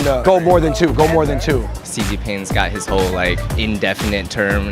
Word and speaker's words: Xi Jinping: That's one of the syllables. I don't know how to say this. Zing. Jai? Xi Jinping. Xi Jinping.